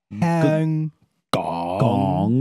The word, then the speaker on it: Hong Kong: he do you know how to actually say Hong Kong in canones h gong Hong Gong with a G all right what do